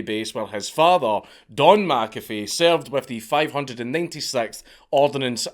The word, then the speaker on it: McAfee: on with the video, McAfee is obviously a Scottish surname, and the way John pronounces it, McAfee, is wrong. It's an incorrect pronunciation. It's meant to be McAfee, not McAfee, McAfee.